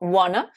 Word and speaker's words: wanna: to want, eh bien, quand want to se transforme en wanna, vous voyez bien que le T de want et le T de to n'a pas été prononcé au profit du N de want.